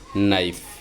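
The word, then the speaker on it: knife: ইংরেজিতে শব্দে ইংরেজি শব্দে কে এর পর এন আসলে কে সাইলেন্ট থাকে তথা উচ্চারিত হয় না। যেমন নাইফ নি ইত্যাদি।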